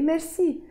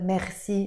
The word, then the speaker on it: merci: but also you notice we don't say it like the French people say it usually like this Maxie no we say the Lebanese French way merci merci Pierre of course